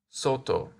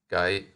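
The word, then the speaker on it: 外: this kanji is pronounced Soto and in compounds guy as in guys can go outside to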